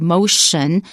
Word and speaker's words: motion: It's got a T in it, but we pronounce it sh, as in the word motion, martial arts.